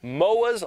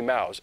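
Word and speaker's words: Mao's: the unit County Library Moiz last dance Moiz mouths it's supposed to be Mouse I think it's spelled wrong in the prompter that'd be my fault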